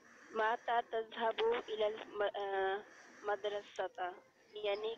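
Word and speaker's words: متى: भाई इसका प्रोनाउंसिएशन मता होगा या माता माता होगा? मता, मता मता तज़हबू इलल मुहंदिस, यानी आप इंजीनियर के पास कब जाते हो?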